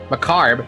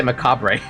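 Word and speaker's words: macabre: I know how to pronounce this word, but my brain wants to say macabra. Macabra.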